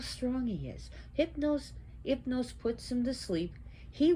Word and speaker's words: Hypnos: which we pronounce it Hypnos here, but it's Hypnos because the H is not pronounced in Greek language. So Hypnos, which means sleep.